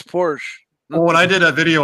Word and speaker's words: Porsche: a hood it's a bonnet it's not it's Porsche when I did a video on gluta I'd